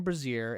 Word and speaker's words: brazier: Each alcove contains a large iron brazier and is crammed with a brazier. Is it brazier? Brazier is like a bra.